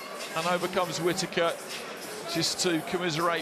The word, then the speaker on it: Whittaker: It's Whittaker.